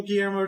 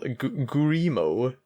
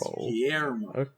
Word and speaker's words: Guillermo: Anyway, Yugi's got to duel Guillermo del Toro now. Yes. He's got to duel Gurimo, who is, and he's going to play the poor man's shadow game.